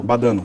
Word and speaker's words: Badano: A Lute era a Chiara Badano, ou Badano. Badano. Badano, essa é a pronúncia correta.